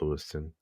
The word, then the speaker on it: Lewistown: It's spelled Lewistown, but everybody from there calls it Lewiston. But it's spelled Lewistown.